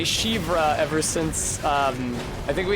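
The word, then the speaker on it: Siofra: And I was in Shivra, and I said, is that how you say it, Shivra? And then somebody with an S-I-O in their Irish name said yes.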